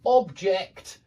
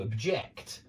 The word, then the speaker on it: object: The stress changes. It's on the first syllable in 2-syllable nouns, and it's on the second syllable in 2-syllable verbs when we use the same word for the noun and the verb.